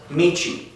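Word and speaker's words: 道: For an example, like this character that I just drew on here, that character by itself is pronounced Michi, okay?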